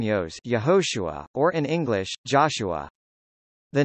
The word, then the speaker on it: Jeshua: from Nazareth John chapter 1 verse 45 Jesus pronounced Joshua in Hebrew is equivalent to the Hebrew named